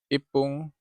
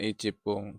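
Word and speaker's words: いっぷん: Fung atauup pun ya ini kalau 1 menit tuh bacanya Ya Ipung ya bukan icipung bukan ifung ya tapi Ipung Nah kalau 2 menit nifung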